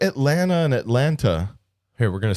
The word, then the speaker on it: Atlanta: I have to say that T to be correct. It's a dialect Atlanta. Atlanta would be the right way to say it. Atlanta, you're leaving out the T.